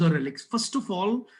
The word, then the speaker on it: relique: the books of poetry, the spelling is RELIQUE. Okay, एक archaic touch यानी पुराना touch देने की कोशिश स्पेलिंग में कई जगह की गई है, लेकिन एक्चुअल स्पेलिंग रेलिक ही होती है.